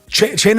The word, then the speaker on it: Cena: Cena is how you pronounce Cena. It means dinner.